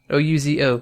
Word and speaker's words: ouzo: like, no, it's ouzo. O-U-Z-O, ouzo. That's how I say it.